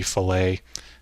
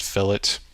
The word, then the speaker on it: fillet: Now I know it seems like it would be fillet. In engineering terms, this is actually pronounced fillet. It's weird. If it's a fish fillet, it's a radius fillet. I don't know why it's that way, but that's the correct pronunciation of it.